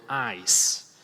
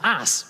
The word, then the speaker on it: ice: Now, one word you really don't want to mispronounce is the word ice. Right? That's what, well, I guess it becomes ass, right?